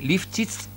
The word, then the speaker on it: Lifschitz: hoy el título es, podríamos utilizar un hashtag, me dice que Eliana lo pronuncia así, Lifchitz en Capitán Bermúdez, el hashtag, porque estuvo hoy gran parte de la mañana el gobernador llegando a suelo bermudense.